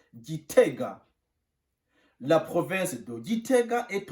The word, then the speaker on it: Gitega: On prononce Gitega.